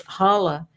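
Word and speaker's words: challah: So, everyone calls it chala bread, but it's hala. And even though the c is there, it's silent.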